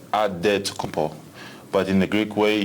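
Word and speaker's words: Antetokounmpo: helps set the record straight of how you pronounce it in a deal wait you got a save with the beasts it's odd dead to come Paul but in the Greek way you save at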